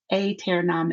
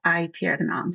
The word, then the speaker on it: aeternam: Well, and you saw I started to pronounce aeternam instead of aeternam.